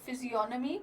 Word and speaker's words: physiognomy: He applied the ancient technique of physiognomy to criminology. Physiognomy, the G is silent here.